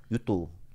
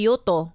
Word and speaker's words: Yuto: U2. Yeah, he has name. That's how you say it, actually. You say Yuto. Yeah, so that's his name, Yuto, not U2. Not letter U2.